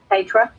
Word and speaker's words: Petra: Okay, and also Petra, that's how you say it, right, Petra? Petra, yeah.